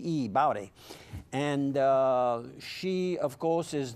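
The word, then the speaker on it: Baute: Her family name, it rhymes with Howdy, so it's Bowdy, B-A-U-T-E, Bowdy.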